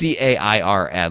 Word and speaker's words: cairn: Well, what you do want to know is, in fact, Karen does not have an H in it, although I might be mispronouncing it. It might be pronounced Kern, but it's Cairn.